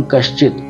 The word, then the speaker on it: कश्चित: अब ये देखिए क श, तो ये क श और नीचे चित, तो हम इसको पीछे पढ़ेंगे, मात्रा को इसके साथ में पढ़ के चित पीछे हो जाएगा और कश आगे हो जाएगा।